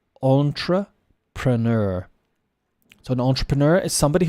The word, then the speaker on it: entrepreneur: Maybe we do, but we still use this word, French, and we pronounce it the French way, if possible. Entrepreneur. Entrepreneur.